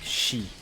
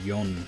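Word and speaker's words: 四: about other cultures but in Japanese four is an unlucky number you used to say it like she like death um and I I think because of that they started calling it yon now and that's what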